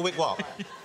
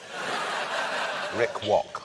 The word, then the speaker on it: Rick Rock: So Shaggy's talking to Rick Rock? Rick Walk. Rick Walk. Rick Walk. Rick Walk. Rick Walk. Rick Walk. David, you're now saying it wrong. Rick Rock.